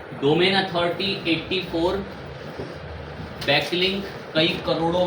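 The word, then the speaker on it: Quora: कोरा अब क साइलेंट मान लो कोरा करके उसको पढ़ा जाता है।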